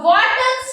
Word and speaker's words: Wharton: तो यहाँ आपका आंसर होगा Wharton's duct, WHARTON, Wharton इसका प्रोनाउंसिएशन है।